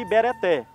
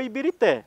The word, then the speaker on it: Ibirité: Alguns falam que eles tinham dificuldade de pronunciar a palavra Ibereté. Porque se você olhar lá na estação, tá assim, estação Ibereté. Só que virou Ibirité.